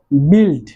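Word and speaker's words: build: এন্ড তারপর যেটি রয়েছে সেটি হচ্ছে বিল্ড। বিল্ড, আমরা জানি বিল্ড মানে নির্মাণ করা। এখানেও বিল্ডের মধ্যে যে ইউটি রয়েছে ইউটির উচ্চারণ কিন্তু হচ্ছে না, অর্থাৎ ইউটি সাইলেন্ট ইউ।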